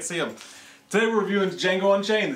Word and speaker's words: Django: Today we're reviewing Django Unchained, the D is silent.